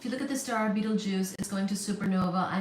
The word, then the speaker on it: Betelgeuse: compare that if you look at the star Beetle Juice is going to supernova I mean I meant